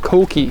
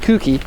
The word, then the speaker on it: Koki: And guys, it's called Koki. It's not Kuki. Kuki would be a mispronunciation. Koki is the way that you would pronounce that in Japanese.